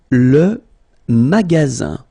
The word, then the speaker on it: magasin: Le magasin, le magasin, okay, remember you've got only one S between two vowels, then you get the sound Z, alright, and then the